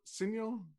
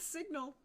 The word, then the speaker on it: Signal: been advising with sir quick note on pronunciation signal or signo i'm going with signal okay i i don't know any other way to pronounce it because he is an englishman not an italian there we go uh